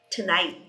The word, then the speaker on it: tonight: Eu reduzo to porque é o night que é a sílaba tônica.